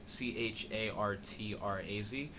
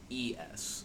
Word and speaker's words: Chartres: So X said Chartraz. It's Chartres. So I think it's Chartres like that. And it's probably more like Cartres or something. I know it's French.